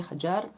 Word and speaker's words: Hagar: along with his wife Hagar or Hajar depends on the language spoken in each part of the Arab speaking world many times the letter "j" is pronounced as "g" particularly in Egypt and Hagar was from Egypt.